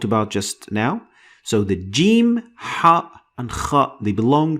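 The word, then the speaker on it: جيم: The letter is said as jim, and the sound is j sound.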